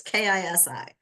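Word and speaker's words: ქისი: I got that one right. I know I've got Kisi right. It's Kisi.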